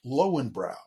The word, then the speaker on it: Löwenbräu: Löwenbräu in America is pronounced Lowenbräu.